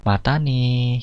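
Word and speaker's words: またね: Jadi pengucapannya mata nih gitu ya.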